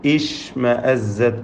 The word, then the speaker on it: اشْمَأَزَّتْ: ഇഷ്മഅസ്സത് ആ പദം മുതൽ എടുത്തു ഒതുകയാണെങ്കിൽ ഇഷ്മഅസ്സത് എന്ന് ഹംസത്തുൽ വസ്ലിന് കസ്ർ കൊടുക്കേണ്ടതാണ്.